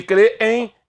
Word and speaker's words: crêem: crer em qual é a sílaba tônica de crêem é o cre ou seja segue exatamente a mesma regra de jovem homem nuvem item as palavras terminadas em êem com a tonicidade na penúltima sílaba não tem acento era